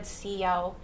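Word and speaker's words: Callao: In Spanish, they said siyao, and they spelled it S-I-L-L-A-U. Because in Spanish, the L is pronounced with a Y, right?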